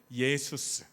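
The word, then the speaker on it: Ἰησοῦς: 근데 정확히 발음하면요. 예수스입니다. 그리스어로 예수스.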